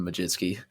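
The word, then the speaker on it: Mlodzinski: a South Carolina fan am i pronouncing that right Majin ski yeah Carmen Majewski it looks really weird but somehow you pronounce it that way still don't know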